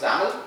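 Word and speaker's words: XAML: design you will use zaml which is extensible application market language XML is exens Market language this is exible application market language that's only difference and it is pronounced as Zam like camel uh I don't know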